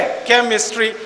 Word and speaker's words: chemistry: तो CHE माने के, केमिस्ट्री। तो अगर CHE में केमिस्ट्री होता है तो CHOPARA चोपड़ा में कोपड़ा क्यों नहीं होता, बताइए ना।